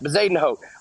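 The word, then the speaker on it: Højgaard: this guy's name uh I've been told it's bazen ho Vaden ho so we'll go with vazen ho uh we're going to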